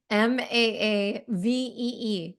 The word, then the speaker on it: Maavee: Maavee, correct? Spelled not the French way, but spelled in a way that people who don't speak French would Maavee. maybe say it right.